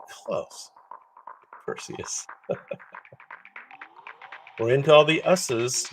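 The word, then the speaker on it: Theseus: we're not there yet who knows this way it rhymes with Perseus this is Theus Theus Theus is renowned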